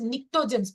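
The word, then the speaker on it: pnictogens: group are known as niens p is silent here niens 16th group chosens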